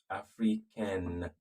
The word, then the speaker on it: africaine: Then you now pronounce the N and then add E.